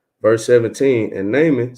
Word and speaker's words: Naaman: So this is basically, he got Elisha had helped I believe you pronounce it Naaman.